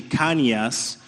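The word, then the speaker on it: Cañas: His last name was actually Canias, which is spelled Canas, which that would be my last name today.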